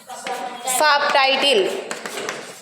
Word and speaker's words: subtitle: and title makes what subtitle so when we when we write the compound words we should not uh we don't be silent there be is not silent in that okay sub title why